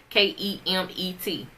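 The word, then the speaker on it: Kemet: Africans of that land kymmie or pronounced ke m ET his axioms provided humanity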